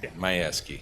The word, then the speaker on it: Majewski: Majewski, is that how you say it, or? Yes. Majewski? Say however you want. As long as you. Well, I want to say it right. Majewski.